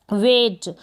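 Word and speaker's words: weight: डब्लू को व, ए और जी एच साइलेंट है। और टी ट, वेट।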